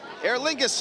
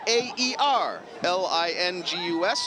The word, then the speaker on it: Aer Lingus: we have an adopted dog in my house Air Lingus is coming up next I believe no they're